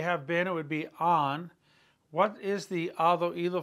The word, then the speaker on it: han: Has, hemos, on. Remember the H is silent. So if you want to say they have been, it would be on.